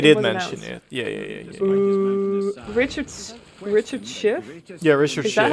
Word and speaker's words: Schiff: Richard Schiff? Yeah, Richard Is that how you Schiff. pronounce Yeah, it? Schiff. SCHIFF, right? Yes. Yeah, Schiff.